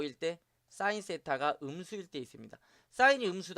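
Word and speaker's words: θ: 이걸 동시에 만족시키는 이 쎄타 세타 라고 읽어요 각은 조 대체 몇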